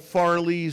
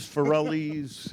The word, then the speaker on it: Farrelly: I get a lot of Farleys, Farrellys, but Farrelly, like Sarah-lee.